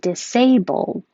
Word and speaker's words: disabled: and the next one disabled you really can't hear a difference because i'm not releasing the d if it's by itself disabled the l and